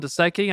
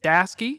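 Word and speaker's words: Daseke: If you don't know who Dasky is, they also have a YouTube video because I called him Daseki. I apologize. It's Dasky.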